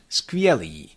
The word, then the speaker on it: skvělý: Now, the initial consonant cluster, skrz, might be a little bit more challenging. So if you have troubles pronouncing that, again, let's go step by step. Skr, I believe that's fairly easy to say, sk. Yeah, it's normal in English, for example. Let's add v, skv, skv, skv.